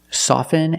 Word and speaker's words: soften: words soften and often with both words I don't pronounce a t i say soften and I say often but sometimes you'll hear people say often and it's not wrong it's okay people say both often and often I prefer often